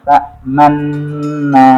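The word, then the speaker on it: تَأْمَنَّا: Cara bacanya itu adalah memonjongkan kedua bibir, tapi tidak berbunyi. Qalu ya abana ma laka la ta'manna ala Yusuf.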